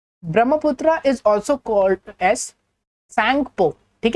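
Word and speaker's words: Tsangpo: Brahmaputra is also called as सैंगपो, ठीक है। T silent होता है यहाँ पे, सैंगपो या ब्रह्मपुत्रा।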